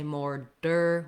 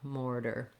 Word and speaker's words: mortar: correctly just be light don't say more der with a strong stopped air d just a light touch up mortar and then letters a